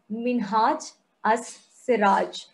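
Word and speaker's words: Minhaj-us-Siraj: So it's pronounced as Minhaj as-Siraj.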